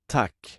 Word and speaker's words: tack: Let's practice the short pronunciation with the Swedish word for thank you. Tack. Tack. And now for the long pronunciation with the Swedish word for good.